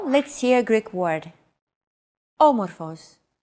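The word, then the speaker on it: άμορφος: a language is intonation did you notice the accent mark above the first letter there is only one type of accent mark in modern Greek the acute accent it adds stress to a syllable a stressed syllable usually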